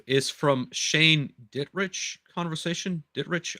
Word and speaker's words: Dittrich: Dittrich, I believe that is the way you pronounce his last name.